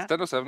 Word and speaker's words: TEN-07: with your daily ride yes it's uh at 1007 yes pronounced like that yeah 107 actually yes and it's from the Netherlands yeah